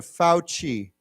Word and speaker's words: Fauci: pronounced with not as it's pronounced with a ch sound so like a cha so let's say together fauci okay yeah um remember